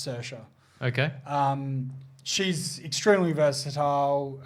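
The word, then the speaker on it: Saoirse: she's her name spelt really strangely but it's pronounced sercia okay um she's extremely versatile uh any other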